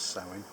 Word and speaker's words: Samhain: old celtic festival of sowing spelled samhain it's pronounced sowing and uh used to